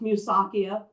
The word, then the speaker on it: Musakia: And just FYI, it's pronounced Musakia, not a big deal.